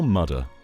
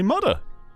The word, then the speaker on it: mudder: You slippery little mudder.